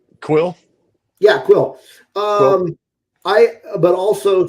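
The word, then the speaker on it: Kuiil: and it comes with Kulil. I always pronounce his name wrong. Quill.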